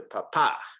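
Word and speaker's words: papá: mark now naturally speaking if you don't see an accent mark it's the second to last syllable that's going to get the emphasis so it's papa okay okay but if we see an accent mark we have to shift that emphasis to papa right why does it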